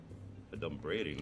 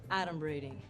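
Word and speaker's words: adumbrating: this look at this 38 points for me a d braiding that's not even a word okay first of all it's pronounced adom braing and it means pretending foreshadowing H guess who's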